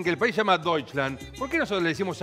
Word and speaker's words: Deutschland: Deutschland. Deutschland. Germania, yo pienso algo con eso, al respecto, ¿no?, de eso. Si los alemanes dicen que el país se llama Deutschland, ¿por qué nosotros le decimos Alemania?